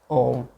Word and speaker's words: om: basis of all sounds the first letter a is this root sound the key pronounced without touching any part of the tongue or palate m represents the last sound in the series being produced by the closed lips and the u rolls